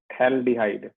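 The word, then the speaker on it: phthalaldehyde: Common name, ठीक है भाई, इसका कॉमन नेम है पी साइलेंट है, थैल्डिहाइड।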